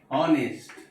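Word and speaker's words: honest: उसी प्रकार से एन ऑनेस्ट, यहाँ पे भी एच है, मगर यहाँ पर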